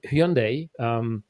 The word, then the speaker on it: Hyundai: And then we switched into Hyundai, pronounced as Sunday, Tucson.